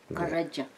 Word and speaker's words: Karaca: Yeah, because in Turkish they pronounce C as J. Karaca.